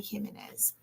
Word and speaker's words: Jimenez: Abby Jimenez is how I would pronounce her name.